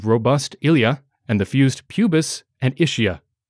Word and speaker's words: pubis: The hip bones included robust ilia and the fused pubis and ischia. Pubis is spelled P-U-B-E-S, but I'm not going to pronounce it pubes.